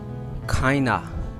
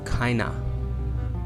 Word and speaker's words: kinda: Kinda. This word in the real pronunciation is kinda.